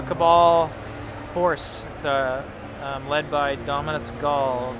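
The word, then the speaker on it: Ghaul: course led by dominance Gul Gul I was trying to pronounce it earlier when I saw the chair thing it's like go like gol but it's actually spelled out to be gh aul yes that's correct so he's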